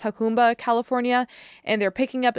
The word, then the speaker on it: Jacumba: So both reported that there was Border Patrol in, I think it's pronounced Jacumba, California, and they're picking up illegal immigrants and